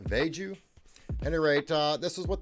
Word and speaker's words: VeGue: to it and uh I think it's uh pronounced vegu anyway uh this is